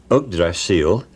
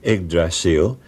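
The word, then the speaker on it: Yggdrasil: He first of all pointed out that ugdrasil is the old Saxon way of pronouncing eggdrasil and it doesn't mean ugly steed.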